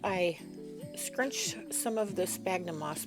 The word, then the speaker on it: sphagnum: So first I scrunch some of the sphagnum moss. We like to call it sphagnum moss because that's how it's spelled, sphagnum.